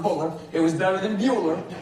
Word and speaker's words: Butler: I wasn't about to tell him it's pronounced Buller.